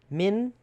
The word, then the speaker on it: min: Min? The way I'm saying it? Min? Yeah, That's that means stinky in our language. In Laos. and spell that one. Min. Min. It sounds like min. M-I-N.